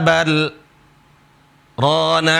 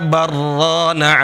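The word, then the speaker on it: بَلْ رَانَ: Caranya bacanya di sini berhenti kalla bal rana ala qulubihim ma kanu yaksibun. Nah, seperti itu. Kalla bal rana ala qulubihim ma kanu yaksibun. Dan nggak boleh baca kalla barrana ala barro idgham.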